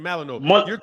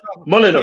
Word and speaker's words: Molyneux: I pronounce it Malino. Molyneux. Yeah, so just Molyneux. Tell him why. How do you pronounce it? Tom Molyneux. Molyneux. Tom Molyneux. Molyneux. It's a French last name. Like Melanois.